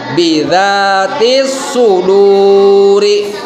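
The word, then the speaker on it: بذات الصدور: Huruf aslinya itu bidzatis suduri. Tapi kalau ketika diwakofkan menjadi bidzatis sudur. Itu kan dibaca panjang. Karena di sana sebelum wakof ada huruf yang harus dibaca panjang.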